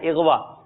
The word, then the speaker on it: اغوا: کچھ اور دکھائیے گا۔ اغوا یعنی الف کے نیچے زیر ہے، اغوا، بھئی فلاں رشتہ دار اغوا ہو گیا، اللہ نہ کرے یہ کوئی کہے کسی کے ساتھ یہ مصیبت ہے، تو صحیح تلفظ کیا ہے؟ اغوا۔ اللہ کرے اغوا ہونے